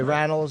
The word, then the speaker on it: Rannells: And in the studio, it's Andrew Rannells, is how you say it? That's right. Okay, Rannells and Rory O'Malley, Josh Gad, and Nikki M.